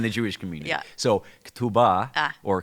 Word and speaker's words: Ketubah: So next is Ketubah. Yeah. Good. That was a very American pronunciation.